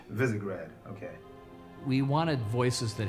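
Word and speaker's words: Visegrad: of characters brand new casting it's and it's pronounced visigrad visigrad okay we wanted voices that had character in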